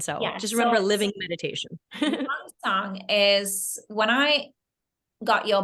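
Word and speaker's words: 명상: book, now you pronounce it, I want to pronounce it right. Say it, it's very difficult, Hannah. It's Myeongsang, and it's translated as meditation. Right? Myeongsang.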